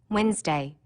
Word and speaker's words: Wednesday: that you don't hear Wednesday don't forget the D NE e and that